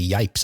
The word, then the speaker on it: Yipes: I don't know what the context is that would lead him to say "yipes" either. You know, because it rhymes with stripe.